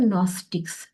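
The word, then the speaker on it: Gnostics: branch को कहते हैं नस्टिक्स नस्टिक्स में एक जी लगा दो वो साइलेंट है जी एन ओ एस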